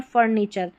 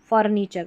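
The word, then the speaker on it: furniture: ये भी रिपीट होता पैटर्न है, TURE, इसको चर पढ़ते हैं। जैसे देखिए, रिपीट होता है, अगर सही तरीके से उच्चारण नहीं पता होगा, इसको टर भी पढ़ सकते हैं आप, टूअर भी पढ़ सकते हैं। तो पिक्चर, नेचर, फर्नीचर, फर फिर नी और चर, फर्नीचर।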